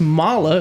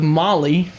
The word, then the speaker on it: Mahle: been saying it wrong for years apparently it's pronounced Mala according to clay milikin that we saw today instead of Molly like we have as far as I know